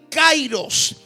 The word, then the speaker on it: kairos: todo tiempo, es la palabra griega que se pronuncia, amén, kairos.